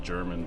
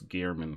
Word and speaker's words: Gehrman: Or Gehrman, I think it's pronounced. I always said it German before we played together, but I guess it's Gehrman, because you always pronounced it Gehrman.